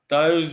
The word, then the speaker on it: Tyus: 25 plus points, and Tyus Jones. I don't know if I'm pronouncing it now like Thais. I think Yeah, it's the right pronunciation. yeah, Tyus Jones, you got it.